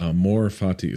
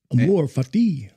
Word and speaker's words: amor fati: to respond Amore Fati Amor Fati so so yeah what's y'all's what's your pronunciation a m o r f a TI it's it's not Amor fatti Amor fatti am fatty